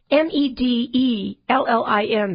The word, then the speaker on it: Medellín: And then there is Medellín in Colombia, and that's spelled Medellin.